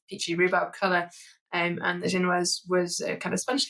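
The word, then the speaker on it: génoise: It's pronounced genoise.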